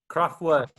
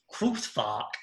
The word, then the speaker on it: Kraftwerk: Kraftwerk is the German pronunciation, if you want to know.